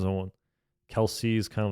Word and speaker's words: Kelce: I think that Travis Kelce and I thought his name was Kel before cuz that's how it's spelled Travis Kel is sounds